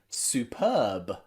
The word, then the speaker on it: superb: something we might say superb superb there's another softer b at the end superb we don't say superb we say superb that was superb it